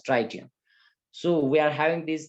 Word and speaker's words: tritium: as tritium isn't it some may call it as dry shim but better is to pronounce it as tritium so we are having